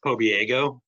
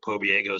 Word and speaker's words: Pobieglo: And Jody, if you want to kind of remember how to pronounce the last name, I always tell people to remember it rhymes with San Diego. Pobieglo, San Diego kind of gives you a reference point there.